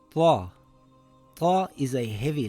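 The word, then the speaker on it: طاء: This letter is called ta. Ta is a heavy letter. The closest letter would be the letter T and the letter ta, but it is pronounced with a heavy sound, ta.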